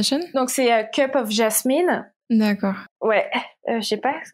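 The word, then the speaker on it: Jasmien: Si, Jasmine, je pense que ça se prononce comme ça.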